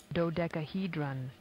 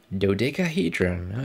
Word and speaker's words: dodecahedron: pyramid which and this thing i can't really pronounce do something hold on dodecahedron dodecahedron okay thank you random lady from the dictionary